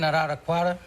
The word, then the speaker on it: Araraquara: You ever been in Araraquara?